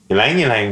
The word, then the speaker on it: Ylang ylang: Ylang ylang rhymes with wang.